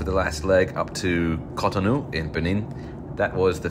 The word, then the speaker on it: Cotonou: I keep saying that name wrong. Cotonou.